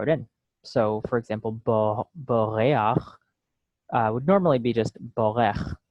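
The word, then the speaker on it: בּוֹרֵחַ: So what we're going to do is we're going to just throw in what is called the furtive patach, and that's pronounced before the chet actually. So it becomes boreach, notea, rakia, ruach.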